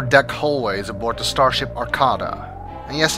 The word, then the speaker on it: Arcada: hallways aboard the starship Arcada. And yes, it is actually pronounced Arcada, it says so in the manual. I thought it was Arcada for a very long time, but it's apparently Arcada.